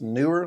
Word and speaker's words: Neewer: So, I'm pretty convinced that it's pronounced Neewer. So, I'm going to go with what they told me.